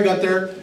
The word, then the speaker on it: Guenther: my name is Gunther spelled with an extra e but pronounced without it I grew up in